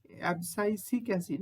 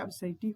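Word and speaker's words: abscisic acid: অবসাইসিক এসিড। ভালো করে উচ্চারণ করো। এবসাইটিক হয়ে যায় না কেনঅবসাইসিক এসিড এটা কিন্তু নাইট্রোজেন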